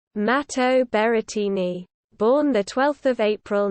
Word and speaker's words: Matteo Berrettini: matteo berettini italian pronunciation mato beretini born the 12th of